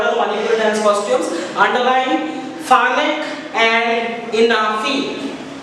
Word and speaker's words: Phanek: Underline Phanek and Inafi. Pronounce it properly with me. Phanek, P-H-A-N-E-K.